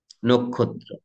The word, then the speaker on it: নক্ষত্র: এটা তোমাদের জানা ন কিন্তু আমরা নক্ষত্র না বলে নক্ষত্র বলছি যদিও বলছি মানে সবাই বলি না কিন্তু সেটি বলা উচিত সেটি শুদ্ধ উচ্চারণ নক্ষত্র এখন বলছি নট আই